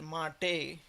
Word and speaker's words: MATE: it is uh it is called it is pronounced mate and mate seems to be it should have